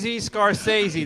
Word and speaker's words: Scorsese: Oh, Scorsese.